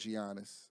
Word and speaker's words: Giannis: Giannis. The G is silent.